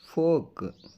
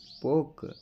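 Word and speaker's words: folk: ಅದಕ್ಕೆ ಬ್ರಾಕೆಟ್ ಅಲ್ಲಿ ಕನ್ನಡದಲ್ಲಿ ಕೂಡ ಹಾಕಿದೀನಿ ಯಾವ ರೀತಿ ಉಚ್ಚಾರಣೆ ಮಾಡಬೇಕು ಅಂತ ಹೇಳಿ ನಡೆದಾಡು ವಾಕ್ ವಾಕ್ ಜನಸಮೂಹ ಫೋಕ್ ಫೋಕ್ ಮಾತು ಟಾಕ್ ಟಾಕ್ ಇರಬೇಕು ಶುಡ್ ಶುಡ್ ಆಗುತ್ತದೆ ವುಡ್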